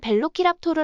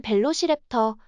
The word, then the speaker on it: Velociraptor: 매력에 깊이 빠지게 되었어요 빠른 약탈자는 뜻에 라틴어인 벨로키랍토르 아고 불리고 영어권 발음인 벨로시랩터 혹은 터로 불립니다 랩터라이너 붙여져 적에게 두려움을